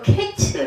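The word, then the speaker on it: קֵץ: 해도 이해가 될 텐데 그래서 히브리어로 케츠 아고 해요 끝 끝이 케츠 다 비슷하죠 예 카이츠 케츠 이렇게 됩니다 예 환상을 보시니 실과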